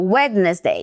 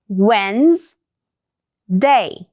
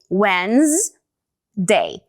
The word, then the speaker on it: Wednesday: Você falou wedness day, então só esquece esse d aí no meio também. Corta, ele é silent letter, ele é mudo. E pronuncia assim: Wednes day.